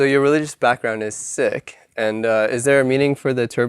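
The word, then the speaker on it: Sikh: so what's your religion are you seeker yes but it's actually not pronounce ck oh really we pronounce sick um sick actually means to learn learner and Punjabi and so that's why it's called sec yeah cuz our religion is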